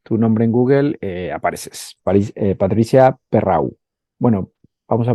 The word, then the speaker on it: Perreau: Patricia Perrau. Bueno, vamos a pronunciarlo bien. Bueno, pero para que me encuentren mejor, lo has dicho bien, Patricia Perreau, sí, porque así me encontrarán, si no.